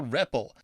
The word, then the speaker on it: REPL: If I press any key, as it says up here, ah, I enter something called the ripple. That's spelled repl.